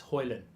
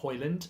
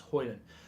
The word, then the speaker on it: Højlund: You don't pronounce the D, by the way. It's Højlund, not Højlund. It's Højlund.